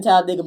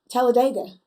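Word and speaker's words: Talladega: Well, I did not know you was in Talledega, but I am so for that.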